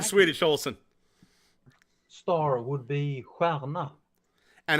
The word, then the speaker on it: stjärna: Star would be stjärna.